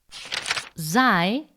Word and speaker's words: xi: Xi is pronounced like X.